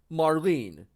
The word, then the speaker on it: Marlene: it is it is actually spit it actually pronounced in the English dub of Final Fantasy 7 ed but children Marlene so what the heck you know because why